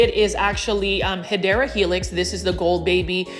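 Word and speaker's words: Hedera helix: And I always mispronounce Hedra Helix. That is the correct way to say it is actually um Hideera Helix.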